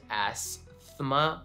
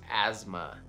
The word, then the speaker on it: asthma: of my journey, but I still thought that it was asthma, right? With a TH, but it's just asthma with a Z sound. And the T is not even there.